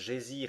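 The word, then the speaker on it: Geysir: une hauteur de dixoises le geyser mot que les Islandais prononcent gésir et qui signifie fureur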